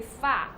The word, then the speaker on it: 花: So the flower in Chinese is 花, but in Cantonese it's actually fa. The pronunciation is yeah, similar is as fa.